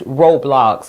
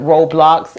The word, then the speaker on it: Roblox: And the reason why the O is not going O in that syllable and is going ah is because the syllable ends in the consonant X and it's blocks.